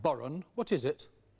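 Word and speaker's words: bodhrán: Andrew, spelt B-H-O-D-R-A-N, but pronounced Boron.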